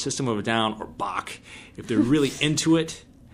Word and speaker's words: Bach: a guitar class, and my professor calls him Botch. Yeah, so yeah. So he's like, he wants Sebastian Botch. I'm pronouncing it wrong. It's like Bach. Bach.